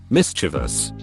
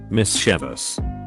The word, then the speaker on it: mischievous: Mischievous. Mischievous. There's no I in the vowels.